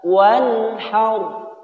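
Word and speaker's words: وَانْحَرْ: Tidak boleh dibaca wan haur, sehingga mengakibatkan dengung. Wan haur. Ini tidak boleh juga karena memantul. Jadi cara membacanya adalah wan haur. Wan haur, jelas tanpa ditahan atau dengung.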